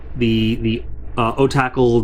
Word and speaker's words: Otacle: So the first model we're looking at is the Otacle, the U1. Is that exactly how we pronounce it?